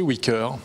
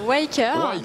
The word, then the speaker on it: Wyker: chrono pour nous expliquer ce qu'est wicker alors ça se prononce waker déjà c'est une application